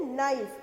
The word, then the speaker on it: knife: तो knee, KNIFE, क्या हो गया, K को साइलेंट रख के बोलते हैं नाइफ, NIFE ही से प्रोनाउंस करते हैं.